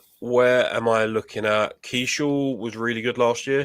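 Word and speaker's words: Keaschall: Is it pronounced Keeschel? Luke Keeschel, yeah.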